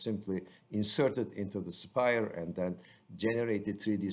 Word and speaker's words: Aspire: you click on Spire, and Spire is spelled as A-S-P-I-R-E with a silent A, and open an existing file.